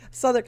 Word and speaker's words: Southwark: yep sther go ahead Souther okay sorry no it's really stupid that's the burough I live in s it's a silent UW okay okay Souther I just I need